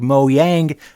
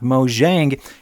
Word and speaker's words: Mojang: the game, thus forming Moang Studios proper. And I know I know there's people out there that are like, "You're saying it wrong. You should be saying it like Mo Yang, not Mo Jiang.